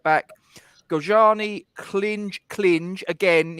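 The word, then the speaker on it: Klynge: the right back gojani clinch clinge again if you're listening in medium Wave It's clinch um not anything else and told us that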